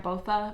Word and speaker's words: Botha: I believe I'm pronouncing her last name right. Botha, B-O-T-H-A.